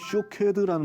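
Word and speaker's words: שֹׁקֵד: 근데 똑같은 자음을 쓰는데 발음상 비슷한 것이 뭐냐면 쇼케드라는 말이 있어요.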